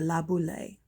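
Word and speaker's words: Laboulaye: had a big idea la boule eduardo de la boule it's a french name get the pronunciation right had a big idea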